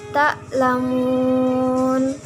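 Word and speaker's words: تعلمون: Ta'lamun. Tulisan aslinya ta'lamuna. Karena wakaf, cara membacanya adalah ta'lamun.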